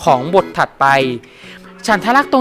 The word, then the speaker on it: ฉันทลักษณ์: ครับ ว่า เขา เรียก ว่า ฉันทลักษณ์ อ่าน ว่า ฉันทลักษณ์ นะ ครับ เป็น ข้อ บังคับ ใน การ แต่ง